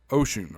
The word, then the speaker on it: Wouxun: This some people pronounce this differently. Here locally, we've called this walks on. Um, however, I've been corrected several times and been uh been told that this is ocean or there's still a